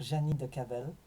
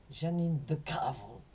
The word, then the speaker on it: Janine de Cavel: sa classe l'a persécuté au lieu de prononcer son nom correct c'est-à-dire Janine de Cavel il disait Janine de cavre et ma mère était